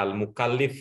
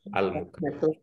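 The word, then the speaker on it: المكلف: Mungkin karena tadi bacanya di buku, jadi bacanya Al-Mukallif ya. Ya. Walaupun ada di gitu ya Al-Mukallaf ya, bacanya adalah Al-Mukallaf.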